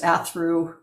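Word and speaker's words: Athrú: Phonetically, it is Athru Group Holdings. In Gaelic, the actual name is Arvru Holdings.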